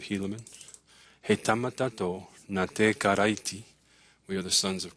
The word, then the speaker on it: Karaiti: But the R's are like in Spanish. So when you see an R there that says karaiti, it's pronounced karaiti, which is the word for Christ.